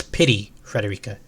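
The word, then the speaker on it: Pity Frederica: Apparently in Japanese it's pity Federica as if a pity me. I'm so sad.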